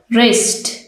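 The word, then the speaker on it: wrist: अब हम silent W के वर्ड्स देखते हैं। राइट, राइट, लिखना। रिस्ट, कलाई। रैप, लिपटा हुआ। रॉन्ग, गलत। इन सब लेटर्स में आप देखें, वर्ड्स में आप देखें कि जो डब्ल्यू का लेटर है वो साइलेंट है।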